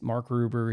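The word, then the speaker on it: Mark Rober: He always corrects me, but it's Mark Ruber.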